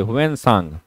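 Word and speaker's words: Hiuen Tsang: याद रखेंगे, ह्वेनसांग। ऑप्शन में आपको टी साइलेंट होता है, इंग्लिश में अगर ऑप्शन देखेंगे तो वहां पे टी साइलेंट होता है।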